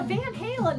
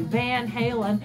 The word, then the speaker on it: Van Halen: interviewed and speaking in Dutch and um so Van Halen is really when you you think California when